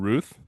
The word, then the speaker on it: Routh: pronounced Ruth. I always want to say Routh because I'm an idiot.